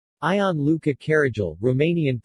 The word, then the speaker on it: Caragiale: ion luca carragel romanian pronunciation commonly referred to as i l carrigel